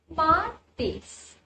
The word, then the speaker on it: martes: You need to stress a bit on the A part. So, it will become MARTES.